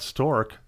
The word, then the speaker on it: Storc: stork am i pronouncing that correctly or is it stored ship no yeah you had it right there okay the first time but the third one